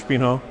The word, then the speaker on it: Espinho: It took me a few days to figure out how to pronounce Espinho. It's like Django, the D silent.